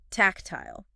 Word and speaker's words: tactile: So, the first word that Professor Paulo has listed here is tactile. Tactile. So, the pronunciation is something like tech. Kick. K. Pay attention to the stress on the first syllable.